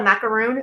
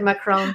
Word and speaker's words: macaron: A macaroon? Like did I pronounce that incorrectly? Macaron. However we're doing it.